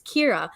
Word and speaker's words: Kyra: cinco so danny and i said kair again it's kira i should literally write